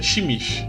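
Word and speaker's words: Tzimisce: É Zimice. Se pronuncia Shimishi, né?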